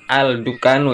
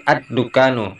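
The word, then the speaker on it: الدكان: Tidak boleh membacanya dengan al-dukanu ya, tapi ad-dukanu. Idgham syamsiah.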